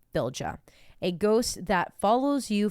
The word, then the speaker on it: Fylgja: One particular type of ghost in Norse mythology is the Fylgja, pronounced many ways, but I think in Icelandic it's Fylgja, a ghost that follows you from birth.